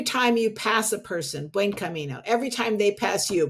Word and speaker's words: Buen Camino: I didn't know how to pronounce it. Buen Camino? Buen Camino.